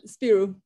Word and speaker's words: Spyrou: Spyrou. Am I saying it correctly? Yeah, Spyrou.